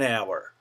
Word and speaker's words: hour: rule we use an when a word begins with a silent h it's almost as though the H were not there so we don't say a a hour we say an hour an honest man an